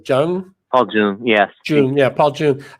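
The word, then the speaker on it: Paul Junge: Paul Jung, yes.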